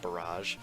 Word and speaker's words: barrage: I used to pronounce it barrage, but I'm pretty sure it's supposed to be pronounced barrage.